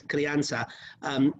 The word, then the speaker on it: Crianza: The first red wine that we're drinking here is Crianza. If you were in Spain, they would call it CRIANZA, the way it's phonetically spelled up there.